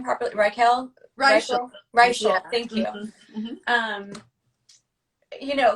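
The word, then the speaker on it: Reichl: Even Ruth Raquel. Is that how I say her name properly? Raquel. Reichel. Reichel.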